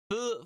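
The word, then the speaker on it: ふ: So this goes ha, he, but this one is actually pronounced fu, as in food. Ha, he, hu, he, ho, fu, he, ho. So fu, but it's like a very H-y sounding F.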